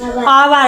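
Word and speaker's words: hour: silent letter ठीक है एच ओ यू आर का पढ़ाई आवर आवर मतलब हो घंटा हैं एच साइलेंट है इ में बी आर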